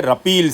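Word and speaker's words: repeal: इसको प्रोनाउंस किया जाता है रपील से, ठीक है।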